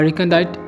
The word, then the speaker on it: recondite: As in recondite scholarship, a recondite term or phrase, it is also used to mean hidden from sight or concealed.